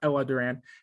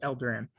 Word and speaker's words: El Duran: It's El, not Ella Duran. It's El Duran.